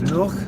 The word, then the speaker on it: Lugh: It fits that bill, which Lugh is Lugh, I think it's Lugh is the proper way to say it, Lugh.